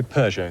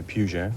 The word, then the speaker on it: Peugeot: else whiskey's pronunciations right is it Pujo or pers oh I'd say Peugeot some people say Pujo but that's wrong it's Persia I think